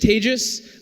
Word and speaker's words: Tejas: That's pronounced like contagious, and I make that very easy because I get a lot of, is your name Tejas? Is it Tejas? Is it, I get a lot of mispronunciations. Here's a way of making it easy. It is like contagious.